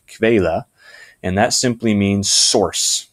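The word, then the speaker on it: Quelle: word there you see I'm not very good at pronouncing it but it's something like Kayla and that simply means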